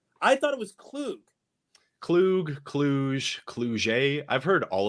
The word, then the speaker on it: Kluge: Loogie with a K in front of it.